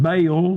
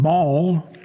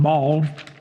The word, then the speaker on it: Baal: some people pronounce that baale but ball b a a l most of the time I see um in that region pronounced ball and we see that